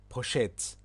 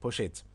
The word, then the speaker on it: poşet: Well, there are different ways of pronouncing this word in Turkish. Also, you can pronounce as poşet, poşet, which is like, Poshetl. Yeah, et. That's right, poşet.